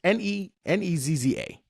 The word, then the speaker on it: Nezza: Niez. It's Nezza.